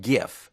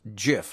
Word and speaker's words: GIF: It's not pronounced GIF, it's pronounced GIF, like GIF peanut butter.